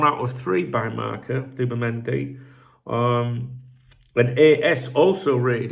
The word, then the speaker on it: Zubimendi: You know, sometimes people say it's not Zubimendi, it's Zubel mendi. What you have to understand is there's different regional pronunciations, all right? Just like there is Bath and Bath back in England and like that. Around here, they they pronounce it Zubimendi, and I'm sticking with that, all right?